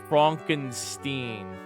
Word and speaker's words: Frankenstein: The doctor's name is Frankenstein, but it's actually pronounced Frankenstein.